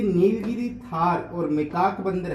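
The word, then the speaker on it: tahr: इस थार की जगह कई जगह तहर भी लिखा जाएगा, तो इंग्लिश में इसका उच्चारण थार होता है।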